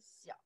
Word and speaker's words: 小: That's a character, pronounce 小, by itself, little.